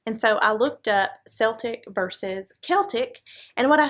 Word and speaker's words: Celtic: nearest origin in french the modern standard is a hard c sound like so i guess that means we need to be calling this the celtic tree you agree david